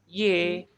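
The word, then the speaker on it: यह: yaar Ki hai hai Ini kata ini kalau di itu emang iya iya memang iya tapi dibacanya iye ya biasa dibaca menjadi y Jadi kita ikut aja dibacanya y aja jadi Pyar Ki ye sab rem me he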